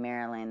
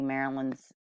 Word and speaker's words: Marilane: I believe that's how you pronounce her name, Marilane. That's how the reporter was pronouncing it.